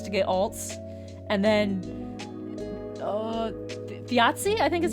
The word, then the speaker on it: Thiazi: were the ones to get alts, and then Thiazi, I think is how you pronounce. Yeah, okay, I got that right. Thiazi and Nidhoggr were the only 2 characters to be introduced.